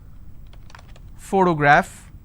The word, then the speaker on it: photograph: if i have the word photograph again i have first sound so just because i have the letter p doesn't mean i can pronounce this as per always all right i also